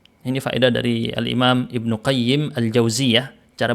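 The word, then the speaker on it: ابن قيم الجوزية: qayyim dimakrifahkan Ibnul qayyim yang salah bilang Ibnul qayyim aljauzi Ya itu salah yang benar salah satu dari dua tadi Ibnul qayyim dimakrifahkan saja gitu tanpa disebut mudhaf ilaihnya atau dimudhaof ilaihkan maka bilang Ibnu qayyimil jauziyah Ibnu qayyim aljauziyah gitu ya cara bacanya Ibnul jauzi beda orang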